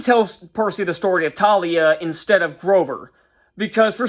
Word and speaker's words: Thalia: And Luke tells him the story of Talia, even though he pronounces it Thalia here.